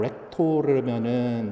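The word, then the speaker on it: rector: 발음 잘 해야 되는데 이제 R 해가지고 렉토르면은 이제 학장인 거고, 렉토르라 해가지고 이제 L로 앞에가 바뀌면은 읽는 사람이에요. 그리고 그 선창자를 렉토르라고 그러는데,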